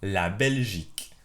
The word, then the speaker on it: La Belgique: This is how you say Belgium in French. Écoutez 6 fois. Listen 6 times. La Belgique.